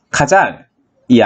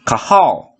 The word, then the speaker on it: Cajal: 장관신경계에는 특징적으로 ICC라는 친구들이 있는데 발견한 사람이 지금은 스페인인 에스파냐 사람이라 카잘이 아니라 카하오, 그러니까 interstitial cells of Cajal로 발음된다고 합니다.